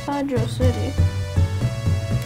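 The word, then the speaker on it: Hydrocity: Still pronounced Hydro City. The space is just not there in the original version.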